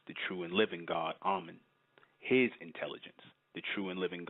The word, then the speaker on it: Amen: It is a reason why that name, Amen, A-M-E-N, sometimes spelled A-M-E-N, we pronounce it A-H-M-E-N.